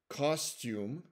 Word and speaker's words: costume: Okay, now finally, let's look at a few exceptions where the TU is part of an unstressed syllable and it's towards the end of the word, but it's said as to instead of chew.